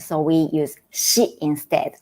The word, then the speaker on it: し: Pronunciation is a little bit tricky because not sa, si, su, se, so, but sa, shi, su, se, so. In original Japanese, we don't have si sound, so we use shi instead, like sushi.